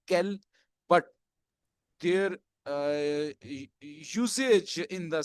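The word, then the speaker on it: quel: के साथ एंडिंग है, all will be pronunciated as kel, but their usage in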